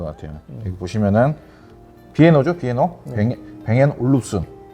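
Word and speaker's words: Bang & Olufsen: 뱅앤 올룹슨. 발음도 어려워요.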